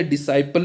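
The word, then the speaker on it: Disciple: और ये द डिसिपल को मिला है, डिसिपल या डिसाइपल भी इसको प्रोनाउंस कर सकते हैं आप।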